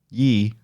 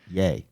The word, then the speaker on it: Ye: Yee. Yay. Yay. I always say it wrong. I think it's yay because it's Kanye. Kanye, yay.